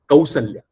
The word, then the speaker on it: Kausalya: It is not Kausalya but Kausalya. So, very interestingly, the pronunciation in Awadhi of Kau is exactly the same as the pronunciation of Au in Marathi.